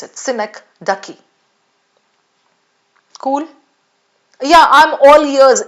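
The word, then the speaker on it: synecdoche: Synak ducky. S Y N E C D O C H E. That's how you pronounce it. Sinek Ducky.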